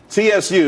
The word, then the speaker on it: TSU: could be happy Sue TSU it's pronounced Sue though that's that's a website.